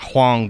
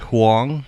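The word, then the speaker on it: Huang: of Nvidia Jensen uh Huong not hang but Huong I believe that's how you pronounced it um you know he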